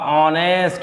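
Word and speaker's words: honest: तो यहाँ पे देखिए लेटर हमारा एच है, लेकिन आ क्या रहा है उच्चारण, ओ का, ऑनेस्ट, और जब ओ का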